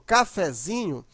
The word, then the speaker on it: cafezinho: Mas quando você usa um derivado dela, por exemplo, cafezinho, a sílaba mais forte agora não é mais o fé, e sim o zinho. Chamando a palavra, ó, cafezinho, observa que o zin, né, você demora mais.